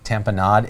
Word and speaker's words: tamponade: we remember tamp and tamponade is we would think of it like we always pronounced a tamponade and we would remember like kool-aid and there's this commercial